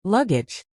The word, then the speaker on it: luggage: Luggage is slvg.d slash again with the stress on the first syllable. Make sure to pronounce the ending age as J.